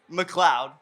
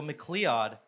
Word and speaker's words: McLeod: Because a lot of people Kudos. mispronounce my name. They go McLeod. So I was like, if I put Cloud on the record, hopefully it'll make people Cloudberries. subconsciously Cloudberries. McLeod, you know?